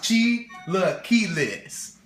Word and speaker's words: chilaquiles: you it's Gila keiles Giles pronounced Chila kees like Sheila lost her keyless even saying the name